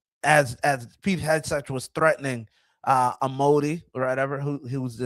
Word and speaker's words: Amodei: As Pete Hegseth was threatening Amodi or whatever, who was the CEO. That's what I had listed on my flashcard. Dario Amodei is how you pronounce it, I think.